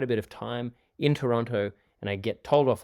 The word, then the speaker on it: Toronto: Now, I've been spending quite a bit of time in Toronto, and I get told off all the time because Canadians say Toronto. So I can't really say it properly, but we say the T anyway.